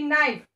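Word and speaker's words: knife: के जो होता है हेयर, के इज साइलेंट बेटा, के की साउंड नहीं आएगी जब हम प्रोनाउंस करेंगे, सिर्फ हम के लिखने में यूज करेंगे, बट वाइल प्रोनाउंसिंग बोलते वक्त जो है के की साउंड नहीं आएगी, हमें एन से स्टार्ट करना पड़ेगा.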